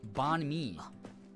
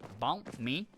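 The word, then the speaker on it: bánh mì: like bump me like they say that like Bon Me and uh it's actually said BM me like that um so it's it's really interesting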